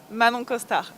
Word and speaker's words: Manon Costard: I knew I'd mess it up, and I asked her how to pronounce it, so we're going to let her pronounce it for all of you. Manon Costard. So all of you from Alabama, where I'm from, take note and try to pronounce it that way.